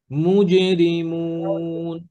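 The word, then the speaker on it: مجرمون: জিম পরে আলিফুল জিমটা জিহ্বার মাঝখানে মুজে মুজরিমুন জিহ্বার মাঝখান থেকে জি মুজে মুজে জি বলেন মুজেরিমুন মুজরিমুন মাশাল্লাহ এরপরে মাশাল্লাহ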